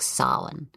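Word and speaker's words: Samhain: traditions of halloween originated from a blend of sauhan it's pronounced s-a-m i mean it's spelled s-a-m-h-a-i-n but it's pronounced like solon um and that's the celtic celebration marking the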